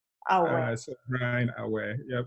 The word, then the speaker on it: Aoaeh: It's pronounced Aoaeh. Aoaeh.